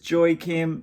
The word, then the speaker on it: Joaquim: He says Joaquim, so I'm going with Joaquim. Others would like the way it's spelled, I believe, like Joaquim, like Joaquim Phoenix, but Joaquim, I like it. I'm Australian, so I would fuck it up regardless.